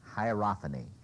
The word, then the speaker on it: hierophany: He's talking about the sense of, here's the word, hierophany. Hierophany. Can anybody spell it?